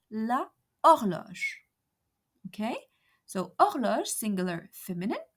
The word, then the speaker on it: horloge: Because H here is muet, mute. Words that begin with H muet act as if they begin with a vowel.